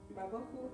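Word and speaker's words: ובהו: Babohu, acento en O.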